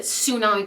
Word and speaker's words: tsunami: Like, I know with tsunami, like people just pronounce it tsunami, but there's a T, so you're supposed to say tsunami, technically.